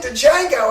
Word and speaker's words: Django: I saw him in Django and I was like holy he's gained like freaking 50 pounds the D is silent it is a musty